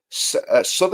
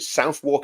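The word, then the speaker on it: Southwark: Sod, I think that's how you pronounce it. Southwalk, it's it's written Suk.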